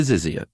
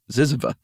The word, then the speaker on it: Zyzzyva: The OED colon A to zizzia. I'm sorry. Zyzzyva.